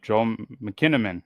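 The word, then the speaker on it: Joel Kinnaman: Yep, Joe McKinnamon.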